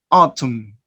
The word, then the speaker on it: autumn: And double M, we have summer, MB, calm, MN, autumn. Remember that this letter B is silent, and the second one, the letter N, is silent too.